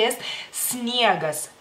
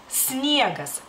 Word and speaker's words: sniegas: un apellido por ejemplo si empieza con la s ustedes pueden ponen la e O sea al principio o sea es niegas y no es esniegas tienen que esforzarse y tratar de pronunciarla bien es sniacas nieve y